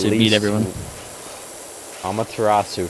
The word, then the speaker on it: Amaterasu: Yamaterasu so beat everyone. Amaterasu, first off, say it correctly.